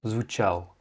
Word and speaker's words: звучал: comme je t'ai dit, après la lettre tché, les voyelles sont prononcées comme molles, et donc c'est pas звучал, mais звучал.